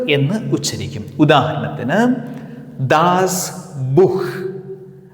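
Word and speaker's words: Buch: അക്ഷരങ്ങളുടെ കോമ്പിനേഷനെ നമ്മൾ ഹ എന്ന് ഉച്ചരിക്കും ഉദാഹരണത്തിന് ദാസ് ബുഹ് മഹൻ ദ ബഹ സൂഹൻ അല്ലെങ്കിൽ കൊഹൻ അതും അല്ലെങ്കിൽ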